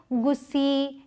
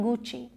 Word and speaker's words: Gucci: तो जैसे नाइक नहीं प्रोनाउंस करते, नाइकी करते हैं, वैसे इसे गुस्सी या गुकी ऐसे नहीं प्रोनाउंस करते, इसे प्रोनाउंस करते हैं गुची, गुची।